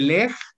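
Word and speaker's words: Legg: Es de Leg y Peters y así. Es la enfermedad de Leg. Se escribe como pierna en inglés, pero con dos Gs. L-E-G-G.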